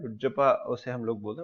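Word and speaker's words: chutzpah: हुज्जपा जो होता है ये अपने पास, इसमें सी साइलेंट रहता है इसके प्रोनाउंसिएशन में।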